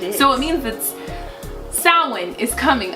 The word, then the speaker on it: Samhain: I was gonna pronounce it wrong, but I caught myself at the end. You got it right. I got it. So Samhain is coming. There's a couple of different pronunciations.